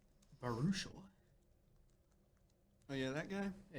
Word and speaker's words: Baruchel: Baruchel.